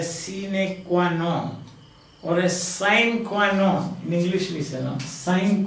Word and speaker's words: sine qua non: a scenic quinone but in the english we pronounce it as sine qua non yes without with you